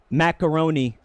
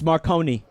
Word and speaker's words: Marconi: that's him that's him a lot of people pronounce it uh guillermo macaroni which is racist it's marconi not larry poggers googly elmo